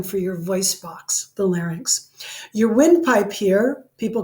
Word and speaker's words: larynx: Some people have trouble with the word larynx. I think even one of our instructors calls it the larynx, but it's the larynx, and it's kind of like, I don't know, have you ever heard of a lynx? It's a really big bobcat, Lynx, lynx, or anyway.